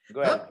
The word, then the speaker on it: Guelfa: And if I'm correctly pronouncing it, it is called Knight of Parte Guelfa, right? Is that correct, Chris? Guelfa, yeah.